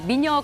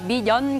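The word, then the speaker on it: 美年: 미녀 건강이 아니라 미년 건강입니다.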